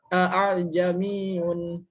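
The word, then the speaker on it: أأعجمي: A'jamiyun ya. Lakunu laula fussilat ayatuhu a'jamiyun. Jadi a keduanya itu disamarkan itu. A'jamiyun.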